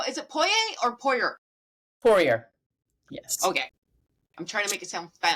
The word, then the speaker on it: Poirier: Poirier, yes.